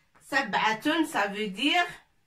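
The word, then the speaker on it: سبعة: Ta, tanwin, ta marbouta avec tanwin, ça se prononce tun. Sab'atun. Sab'atun, ça veut dire 7.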